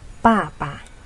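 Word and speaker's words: 爸爸: Panggilan papa di dalam bahasa Mandarin yaitu papa. Papa. Cara bacanya seperti ini. Pa, pa, nada keempat, dan huruf terakhir pa, itu nada netral atau nada kelima.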